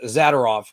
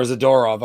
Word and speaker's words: Zadorov: making the addition to Zadorov or Zadorov. I'm sorry, I put the wrong emphasis on the wrong syllable, but it's just one of those things.